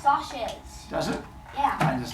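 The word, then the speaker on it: Socs: discussion gu the first question say that they're pronounced sashes does it yeah and does not have the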